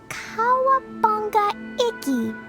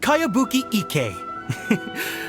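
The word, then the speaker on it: Kayabuki Ikki: By Kawabunga Iki. Yoimiya, this is a really strange name. Who's this Kawabunga? It's pronounced Kayabuki Ike.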